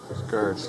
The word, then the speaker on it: Scourge: Scourge, there. Sorry, is that Scrooge or Scourge, or how can I pronounce it right?